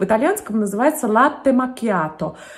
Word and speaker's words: latte: совсем с правильным ударением это слово later на самом деле название напитка звучит как latte приводится молоко а именно